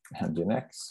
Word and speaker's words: Nginx: Så L står för Linux, A står för Apache, men där kan ju även då, eller E som då står för Nginx, för det uttalas så.